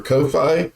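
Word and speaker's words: Ko-fi: our coffee page or Kofi coffee coffee what I've heard it pronounced as is cofi yeah and and based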